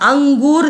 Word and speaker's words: अंगूर: अब अंगूर देखो ग है, तो ग है तो क, ख, ग, घ, अंग, तो उसमें अंग जैसा अंग है ना पांचवा वर्ण, तो अंग जैसा उसका उच्चारण होगा अंगूर।